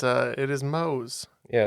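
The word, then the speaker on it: Mohs: it's uh it is Mo's yeah it's spelled m o HS but it is the mo scale it's not the family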